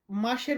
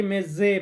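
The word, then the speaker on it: mese: অনেকে মেজে বলি। তো উচ্চারণটা হবে মেসে।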